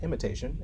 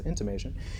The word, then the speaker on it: intimation: in your unconscious mind intimation which is I thought when I first read this was an imitation and I pronounced it as such but its intimation is the feeling that